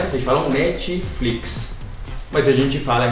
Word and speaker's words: Netflix: diferenças entre as duas o primeiro é netflix vocês pronunciam netflix netflix mas a gente brother em espanhol netflix o acento bunda né falando netflix com esse pé bem fraquinho porque acho que vocês adicionam a vogal um né você fala um netflix